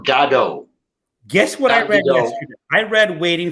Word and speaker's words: Godot: that play and uh Samuel Beckett pronounced it waiting for gado guess what I read